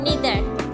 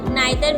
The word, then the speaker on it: neither: Third है निदर, इसको भी नाइदर भी बोलते हैं, निदर भी बोलते हैं, इसका मतलब होता है कोई भी नहीं।